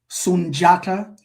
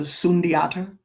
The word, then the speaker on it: Sundiata: we'll call them diop but it's j sunjata as opposed to sundiata.